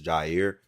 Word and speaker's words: Jer: do it's your boy Jr in the building uh I just want to tell everybody my name isn't Jr is Jer but because everybody just pronounces as JR we GNA rock with it you feel me so